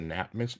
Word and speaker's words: Nap: Phonetically, like N as in Nancy, or Oh, is it nap, M? NAP. Ah, nap, like Taking a taking a nap.